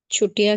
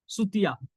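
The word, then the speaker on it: Chutia: किसने आंसर किया देखो इसका स्पेलिंग है पर इसका प्रोनंसिएशन है सुतिया ठीक है क्योंकि आस्मी में च वर्ड नहीं है ठीक है कोई च अल्फाबेट नहीं है तो इसका प्रोनंसिएशन सुतिया है जो ब लोग को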